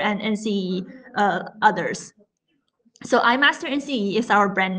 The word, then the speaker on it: iMaster: the Eye Master is our product brand so I master nce is the way how you say it